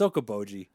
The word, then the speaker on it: Okoboji: Is it pronounced Okoboji? It is. Yeah, it's Okoboji.